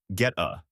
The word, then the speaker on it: goetta: Say it right, get-a.